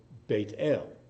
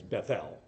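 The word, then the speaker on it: בית אל: particular place it's called bait ale the house of God pronounced in our in our slang as Bethel but it's bait Ale in Hebrew sacred spaces in Jewish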